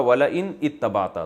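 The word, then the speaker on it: ولئن اتبعت: इबाता असल में था वला इन इबाता तो मिला के पढ़ा जाता है अलिफ साइलेंट हो जाता है वबाता और अगर आपने इत्तबा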